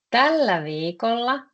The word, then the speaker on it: tällä viikolla: Pronunciation is exactly like that. Tällä viikolla, tällä is tämä.